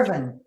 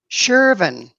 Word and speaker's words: Sherven: you said her name wrong. Did I? Well, Yeah. say it right for me. It's All right. Sherven. Sherven. Sherven.